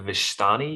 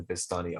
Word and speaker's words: Vistani: The Vishtani, you said? Yes, and it is Vistani.